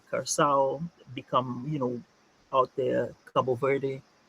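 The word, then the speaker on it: Curaçao: How do you say it? Curacao. Curacao. Okay. Because it's the C with the on the Yeah, yeah, bottom. yeah. Yeah. Okay. And that makes an S.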